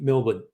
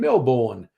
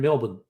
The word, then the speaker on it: Melbourne: Or, despite the way it's spelt, as we say it locally, Melbourne, which confuses visitors. They look at how it's spelt and they go, I'm in Melbourne. No, you're not. You're in Melbourne. And then, but there's extra letters in there. Fuck those extra letters.